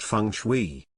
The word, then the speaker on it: Feng Shui: and connectivity known as Feng Shui pronounced Fung Shui Feng Shui literally means